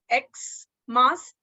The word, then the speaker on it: Xmas: Now X is a consonant, but when I speak या pronounce Xmas, it is giving the sound of E, Xmas, right?